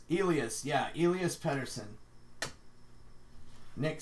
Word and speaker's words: Elias: like howdy says how do you want your name said he's like alias ooh Ilyas Ilyas yeah Elia spender s'en